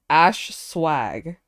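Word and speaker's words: Ashswag: I don't know who how do you pronounce their name cuz like every time I read their name I feel like I pronounce it differently each time it's Ash then swag okay so it's Ash swag okay because I've been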